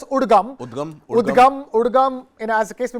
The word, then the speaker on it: UDGAM: the Reserve Bank of India has now set up a web service, a web portal called, it's pronounced, we can pronounce it as UDGAM.